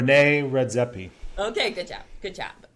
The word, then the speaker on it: René Redzepi: name I'm not saying because I think I'll pronounce it wrong. René Redzepi.